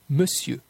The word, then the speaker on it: monsieur: Les lettres ON du mot monsieur se prononcent comme un E. Monsieur, monsieur.